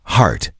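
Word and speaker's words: hart: Finally, Greor said, there's an old term for a big male deer, heart, pronounced the same, but spelled without the e.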